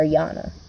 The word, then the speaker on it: Jana: Same with Yana JDH's head, my sister Yana. It's spelled like Jana, but it's pronounced Yana.